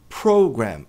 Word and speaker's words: program: Então, a tônica tá no pro, não é pro, é pro. E a gente tem aqui uma a a última sílua. Ela também é forte, mas não tão forte quanto a anterior. Então, uma que a gente chama de subtônica, tônica, subtônica, então é program. Program e não program.